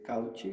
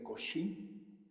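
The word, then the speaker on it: Cauchy: has pronunciado desigualdad de cauchi se pronuncia cosi así como Newton se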